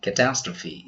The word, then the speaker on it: catastrophe: on to question 2 in which of these words is the final e pronounced this time I can read the options it would be too easy so take your time ready letter C catastrophe is the correct answer some other words we